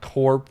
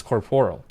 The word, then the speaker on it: corporeal: It's not corp or corpy or something. It's corporeal. That's the proper way to pronounce it, I believe.